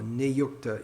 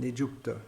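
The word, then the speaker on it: नियुक्त: So it gives the same idea as nijukta, or niyukta in standard pronunciation, nijukta in Bengali pronunciation.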